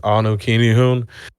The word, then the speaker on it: Anukinihun: It is Anu Kinihun. It is spelled ANUKINIHUN.